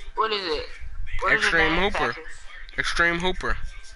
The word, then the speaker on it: Extr3m3 Hoop3r: Extreme Hooper. What is it? Extreme Hooper. But instead of the first E is actually E and the rest are threes. That's how you spell it.